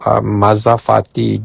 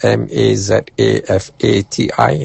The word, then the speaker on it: mazafati: And the dates that I prefer are called mazafati dates which are very similar to another date called rotab. Mazafati is spelled m a z a f a t i.